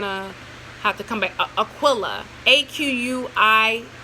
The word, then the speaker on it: Aquila: have to come back Aquila aqu i 8 AQ AQ u IL a Aquila or Aquila however you want to pronounce it like a keel and a B but